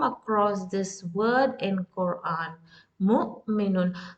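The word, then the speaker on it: مؤمنون: And when Hamza is with sukoon, that means you have to stop on the sound of Hamza. Mu. It's like taking a break on the letter Hamza. Mu'minun. Mu'minun. That's how you pronounce Hamza.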